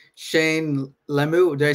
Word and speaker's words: Lemieux: For me, before we end pretty soon, it's Shane Lemieux. Did I say it right, Michael? Lemieux.